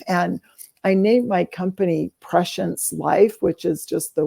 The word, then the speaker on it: prescience: And I named my company Prescience Life, which is just the word pre-science, and together it's pronounced prescience.